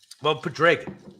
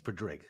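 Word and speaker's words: Padraig: It's Pedrig, but sure. You said Pedrig. That's how you say it.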